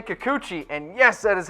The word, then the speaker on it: Kikuchi: the board the Yankees are targeting you say Kikuchi and yes that is how you pronounce it you say Kikuchi I say Kikuchi as well left-handed Japanese pitching prospect is available